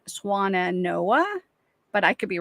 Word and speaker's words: Swannanoa: because she loved swans so I'm thinking it's swana Noah but I could be wrong so that's how I was pronouncing it Noah you are correct help us